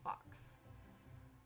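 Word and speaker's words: Phux: the festival these past years uh Fox is pronounced like Fox uh it's Fox p h u x fox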